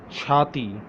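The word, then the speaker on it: چھاتی: Let's come to for girls, Chati, Chaati, Chati, Chati.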